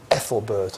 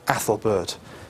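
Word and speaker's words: Æthelberht: And this letter Ash, Anglo-Saxon letter Ash, which is an A and an E put together, okay, usually pronounced A as a short A, but sometimes turned into an E. So you might see this name as Ethelbert as well, but we'll pronounce it Athelbert here, okay.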